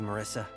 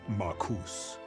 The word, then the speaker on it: Marcus: Couldn't have done it without you, Marissa. My name is pronounced Marcus.